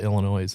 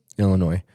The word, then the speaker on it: Illinois: you know people from Illinois, the northern half of the state calls it Illinois. The southern half calls it Illinois. Really? They actually pronounce that pronounce the S.